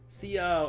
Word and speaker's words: ciao: C is pronounced like ch sometimes.